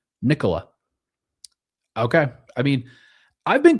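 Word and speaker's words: Nikola: It's like Nicholas but without the s sound at the end. Nicola.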